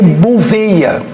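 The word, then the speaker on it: Bouvetøya: chamado a arca de bouvetoya ou falando a pronunciando mais corretamente a arca de buia onde nós abordamos a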